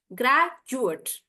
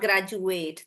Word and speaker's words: graduate: For the noun, I'll say graduate, graduate, not graduate. That's the verb.